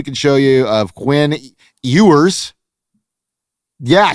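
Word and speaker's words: Ewers: Here's a new little card we can show you of Quinn Eers.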